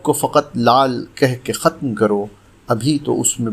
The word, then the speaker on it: ختم: ایک لفظ روزانہ میں ہمارا آج کا لفظ ہے ختم، جو درست ہے۔ عام طور سے ختم بولا جاتا ہے جو بالکل غلط ہے۔ اس کے معنی ہیں